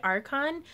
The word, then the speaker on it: Archon: Could you tell me more about, is it Archon? Yeah, it's spelled A-R-C-H-O-N. Right? I think so. Like Arc in St. Louis.